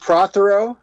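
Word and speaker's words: Prothero: do you pronounce your last name sir it's pronounced prro PR it's Welsh you told me that before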